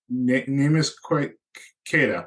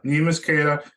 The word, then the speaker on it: Neemias Queta: backup center on our team, and I can't pronounce his name. Queta? Neemias Queta. Neemias Queta.